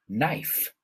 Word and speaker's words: knife: Do you know any other words with a silent K, where the KN sounds like an N?